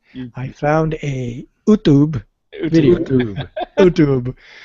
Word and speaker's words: YouTube: YouTube. YouTube. It's pronounced YouTube. YouTube. No. It's pronounced Utube.